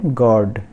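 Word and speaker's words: guard: तो पहला वर्ड है गार्ड, तो गार्ड में यू को छोड़कर GARD इसको हम प्रोनाउंस करेंगे, तो बोलेंगे गार्ड मतलब चौकीदार।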